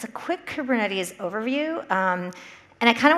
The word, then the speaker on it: Kubernetes: I've heard it pronounced, you know, on a recording properly, like Kubernetes, and it's from the Greek for helmsman, like one who steers, I'm told.